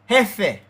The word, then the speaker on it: jefe: Jefe, hef, F, jefe, jefe, jota, ka, jefe. It sounds like this to me. Efe. It's spelled this way, but the J sound like a H in a English.